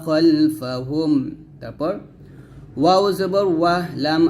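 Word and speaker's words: خَلْفَهُمْ: জবর ফা ওয়া মা খলফাহা মিম পেশ হুম ওয়া মা খলফাহুম একসাথে পড়েন ইয়ালামু মা বাইনা আইদিহিম ওয়া মা খলফাহুম ওয়া মা খলফাহুম খালফা বলবেন না খ মোটা করে ইয়ালামু মা বাইনা আইদিহিম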